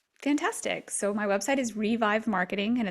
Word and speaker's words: RhiVive: so my website is revive marketing and it's spelled like my first name so it's RH revive marketing kind of shows my humor a little bit because my name is and I'm also on